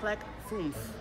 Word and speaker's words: Clek Foonf: Okay, the next one is not so easy to pronounce. It's the Clek Foonf.